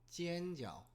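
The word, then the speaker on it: 煎饺: 군만두를 전 교라고 합니다 전교 중국어를 읽으면 지엔저라고 합니다 이거를 이제 군만두라고 합니다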